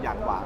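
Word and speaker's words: Yangwang: y a n g w a n g อย่าง หวาง แล้ว ก็ จะ เป็น 2 รูป แบบ ทั้ง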